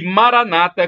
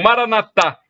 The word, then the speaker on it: Maranata: todo-poderoso ele proverá e Maranata como dizem os protestantes com a tônica na penúltima sílaba ou Maranata como dizem os católicos com a tônica na última sílaba significado o budismo 15